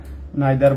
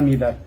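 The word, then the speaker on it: neither: Distributive pronoun আপনারা মূলত দেখছেন ইজ, আইদার বা ইদার, নাইদার বা নিদার। নাইদার, আইদার এরা ব্রিটিশ প্রোনাউন্সিয়েশন, আর নিদা ইদার হচ্ছে আমেরিকান প্রোনাউন্সিয়েশন।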